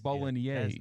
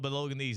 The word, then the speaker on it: Bolognese: How do you say bologanese again? Bologines. Bolognese. That is amazing. I love bowling. I always call it Belogan and I've never been corrected until like a month ago.